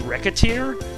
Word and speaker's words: Recettear: the general idea now I'm not actually sure if I'm pronouncing reer right um I've heard it pronounced reaer which is closer to the pun they try to make on racketeer but I can't pronounced rett's name as rette it doesn't make sense so I pronounce it reter anyway small little side